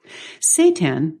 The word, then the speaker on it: seitan: Up nutritionally and how do you eat it Satan it's spelled s e i t n is not